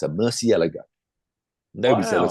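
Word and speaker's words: Murciélago: Asked the PR lady, how do you pronounce it in Italy? She said it's a Murcielago.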